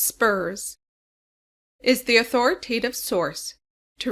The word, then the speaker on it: SPRS: The supplier performance risk system SPS pronounced spurs is the authoritative source